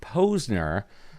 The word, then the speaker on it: Posner: I mean, it's pronounced Posner, but when I was a kid, it was, because some people say Posner, and I just went with it.